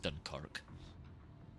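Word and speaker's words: Dunkerque: I used to refer to it as the dunk as well, which makes sense if you don't. But then I had someone who speaks French correct me and it is pronounced Dunkerk.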